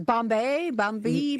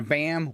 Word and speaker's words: bombe: Bombay? No, it's actually pronounced BAM, believe it or not.